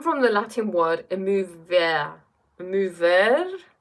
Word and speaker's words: émouvoir: Émouvoir? I'm pronouncing it like it's French.